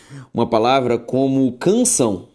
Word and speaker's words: canção: A palavra oxítona é aquela em que a sílaba tônica é a última, sendo ela acentuada ou não. Quando eu coloco para você uma palavra como canção.